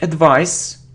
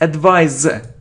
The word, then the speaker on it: advise: Okay, it isn't advice, it's advise. It's a verb, z. We pronounce it as, z if it's between two vowels.